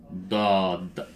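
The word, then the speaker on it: ض: So we have this, but with a dot, and this is dod. Dod. Again, you are exaggerating the sound.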